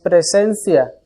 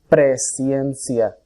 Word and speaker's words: presciencia: No es presencia, es presciencia. La palabra pre significa antes y la palabra ciencia significa conocimiento.